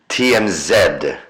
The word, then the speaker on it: TMZ: Oh god we're getting into TMZ territory here for god's sakes. TM zed. Oh thanks pie. Keeping the pronunciation Canadian.